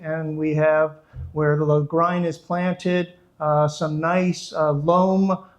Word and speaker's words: Lagrein: which, while not on the label, is 100% Lagrein grape. And if I accomplish one thing in this videotaping, it's actually pronouncing that name Lagrein, which is unusual, but